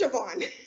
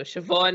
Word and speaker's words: Siobhan: then let you know politely sometimes that is pronounced Siobhan. I figured after the third or fourth time you should get it. You know, the third or fourth time you should get that as name. So Siobhan is definitely the word that's going to be